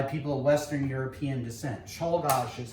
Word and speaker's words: Czolgosz: Czolgosz is how you pronounce his name.